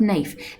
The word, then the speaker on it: knife: at the spelling of knife it's got a kick and care at the front that is a silent letter when you put the